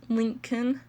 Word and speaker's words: Lincoln: important to note that with Lincoln it's like link like linking two hands together and then in so it's Lincoln there's ubermann a popular